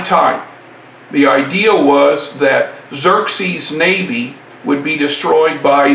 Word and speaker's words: Xerxes: again led by xerxe remember x's are pronounced like z's it is here that xerxes will take his army